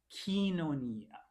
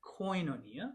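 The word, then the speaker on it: κοινωνία: So think of e kinonia. We hear it koinonia because people are pronouncing it this way, but in modern Greek for this class, that's another e sound.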